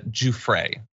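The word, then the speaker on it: Giuffre: brought by let's say, I am being told that it's Juffrey, I apologize for the mispronunciation there ,who accused the British royal of raping her when she was a teenager.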